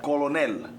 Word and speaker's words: colonel: Colonel. Okay. So in Spanish, I read it like I see it. Oh, right. In America, that's not the case. No, the L is silent, yeah.